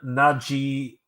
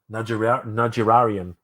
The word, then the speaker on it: Najarian: That was Darren Najirayan. Najarian. Najarian. Sorry, Darren Najarian.